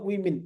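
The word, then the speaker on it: women: तो इस वर्ड का प्रोनाउंसिएशन होगा वीमेन। प्लुरल है तो वीमेन और सिंगुलर है तो वुमन।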